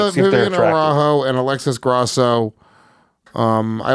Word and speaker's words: Araújo: I think it's Araujo, but yeah, you Araujo.